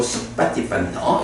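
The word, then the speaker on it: suppaṭipanno: 거기서 이제 요 피 하나 붙은 거는 발음 때문에 붙는 거야. 네. 그러니까 수하고 빠띠빤노를 편하게 발음하려니까 이제 피를 하나 더 넣어가지고 쑥빠띠빤노 이렇게 발음하고 우주빠띠빤노 마찬가지고요.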